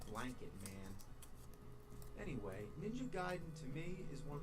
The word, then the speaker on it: Gaiden: We're talking Ninja Gaiden. Everyone always said Ninja Gaiden, but I know for a fact it's Gaiden. You know where I learned that?